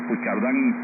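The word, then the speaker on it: Puigcerdà: Creo que ahí se pronuncia también, porque Puigcerdán también no se escribe así, pero así se pronuncia.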